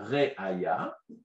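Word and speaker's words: ראיה: Il y a deux mots en hébreu qui s'écrivent pareil mais qui se prononcent différemment. Il y a Réaya qui veut dire preuve. Et il y a Réia qui veut dire la vision.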